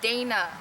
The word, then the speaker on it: Dana: Don't bother trying to get out, Dana. It's pronounced Dana.